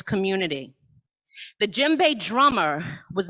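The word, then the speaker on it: djembe: of that drum but it starts with a d but it's pronounced jimbei repeat after me jim bay all right what's the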